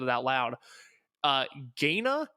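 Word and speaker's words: Gaina: it out loud uh gayna g-a-i-n-a is that how you would pronounce that sure yeah the uh the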